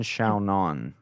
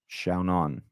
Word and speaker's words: Xiaonan: Yan Xiaonan is how Rogan said it. We'll go with that. Xiaonan.